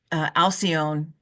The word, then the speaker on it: Alcyone: And so Uranus is activating all of these and really keep Alcyone, that is the English pronunciation.